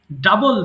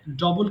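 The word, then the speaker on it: double: সো আমরা ডিসকভারড বলবো ডাবল দ্বিগুণ করা ভুল করে অনেকে ডাবল বলে ডবল কিন্তু রং pronunciation it should be ডাবল সো ডাবল ডাবল ডাবল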